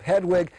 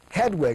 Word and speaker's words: Hedwig: and the Angry Inch Hedwig I think I said it wrong before you've got to be German to say it properly Hedwig I just can't seem to get it make it sound right but I try watch